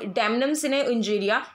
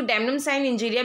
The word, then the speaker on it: damnum sine injuria: तो यहाँ पे डैमनम सिने इंजीरिया, इसको डैमनम साइन इंजीरिया भी बोलते हैं, तो ये लैटिन वर्ड है, तो इसके प्रोनाउंसिएशन में फ़र्क आपको वेरिएशंस दिख जाएंगी।